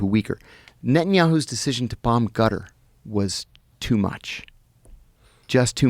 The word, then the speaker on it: Qatar: Qatar. You said gutter. It's back here. It's called a qaf. But so Qatar. I've heard cutter. Yeah, it's not cutter, but you're saying it like a G?